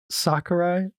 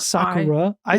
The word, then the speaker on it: Sakura: girl I feel like Sakurai I say her name wrong it's Sakura not Sakura I said a few times in like the ratchet and click episode I said Sakurai a couple times yeah anyway whatever her